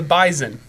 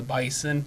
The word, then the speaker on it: Bison: they'll call him the Bison they call him the Bison it's spelled with an S but it's pronounced like a Z okay like how Toronto